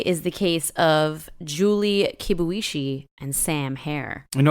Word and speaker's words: Kibuishi: kibuishi and Sam hair no you said that right yes I did I did say it right kibuishi kibuishi she's uh Asian-American so I